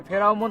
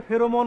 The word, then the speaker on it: ফেরোমন: দেখি আমরা আগে কও এই ফেরাউন ফাটটা আসলে কি এর উচ্চারণ হচ্ছে ফেরোমন ফাঁদ সহজ কথায় বলতে গেলে